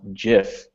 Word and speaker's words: GIF: of it says said uh it should be pronounced GIF. Woo, there we go. See, all those people at the word camps were calling me off stage. So, everybody's saying GIF because that's what it kind of looks like with the G.